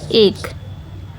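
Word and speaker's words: ache: तो इसका सिनोनिम हो जाएगा एगनी, पीड़ा, एक, इसको यही प्रोनाउंस करेंगे, एक।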